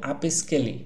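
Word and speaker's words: Upscayl: আপনি এখান থেকে Google এ চলে যাবেন যে আপস্কেলি Google এ লিখবেন স্পেলিংটা একটু অন্যরকম আপ এস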